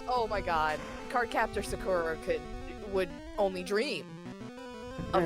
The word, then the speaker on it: Sakura: I think I pronounced it Sakuro when I was younger. And that's Sakuro. Sakura.